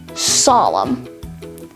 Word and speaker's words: solemn: Then, dam, dislimb, hymn, limb, and finally, solemn. These words all have a silent letter N because they end in the letters M, N.